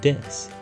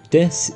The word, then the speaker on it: desu: We never pronounce the U in desu. We simply say it as desu, not desu.